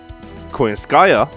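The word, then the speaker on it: Skadi: And we're going to be doing a free turn kill against Kirschtaria Wodime with the double coin Skaya, because apparently that's how she pronounced it. I was calling her Coin Shaka, but yeah, we're going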